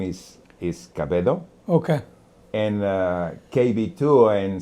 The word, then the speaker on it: Cabedo: And KB2 because in my my last name is is Cababedo. Okay. And uh KB2 in Spanish. Oh, okay. It's pronounced like Cabo.